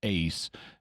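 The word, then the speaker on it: εἰς: In Greek, Eis, or to pronounce it a little better, ace, means into, while ek means out of.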